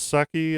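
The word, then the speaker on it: Salke: had jennifer saki yeah it's saki i think it's pronounced like sake touted the policy and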